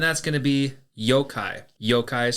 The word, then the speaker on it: yokai: Yokai is spelled Y-O-K-A-I.